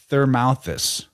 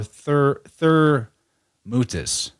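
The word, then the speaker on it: Thermuthis: these sources call her Thermouthis or Thermoutis or Tharmuth or Thermutis. So Dylan's probably getting some, you could also pronounce it Termetis, Termutis.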